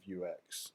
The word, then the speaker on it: Vuex: global State and that's where you bring in view X which is uh spelled like that view X and it is uh